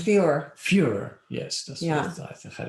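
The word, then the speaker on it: Führer: the title of further is that you pronounce it fewer fewer yes yes i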